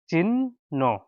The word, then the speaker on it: চিহ্ন: ন চ রসিকার চি হ যোগ ন আছে কিন্তু উচ্চারণ করা যাবে না হ সংযুক্ত ন উচ্চারণ করা হবে চিহ্ন চিহ্ন চিহ্ন চিহ্নর